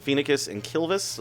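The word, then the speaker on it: Phoenicis: kiss and kill vit is that you pronounce that fee NICUs that's how i pronounce it FINA kiss and kill this like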